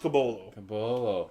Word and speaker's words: Caboclo: cabolo spell caboclo but we've been told it's pronounced cabolo we won't know for another four years potentially